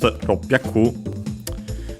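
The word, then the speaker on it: 六百: First and foremost, we have the number 600, which in Japanese is pronounced ropyaku. Notice that from roku and hyaku on its own, accent on the last syllable would mean 100. When we combine them, roku and hyaku, we actually the final part of roku gets shortened and becomes the doubling of the consonant.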